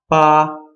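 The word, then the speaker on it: 八: killing somebody you're going so the number eight is the sound ah it's B A high level pitch first tone so again it sounds like Papa so if you wanted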